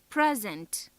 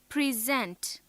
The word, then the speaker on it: present: If stress is on the second syllable, then it is a verb.